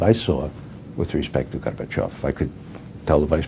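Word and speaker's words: Gorbachev: saw with respect to garbach I could tell the vice president how to pronounce his name garbage and off make sure you pronounce the accent the off that's the way the orthography goes okay well anyhow uh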